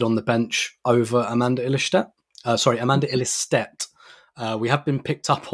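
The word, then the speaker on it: Ilestedt: Katie Reid selected on the bench over Amanda Illistedt. We have been picked up on that apparently it is pronounced Illistedt, not Illistedt.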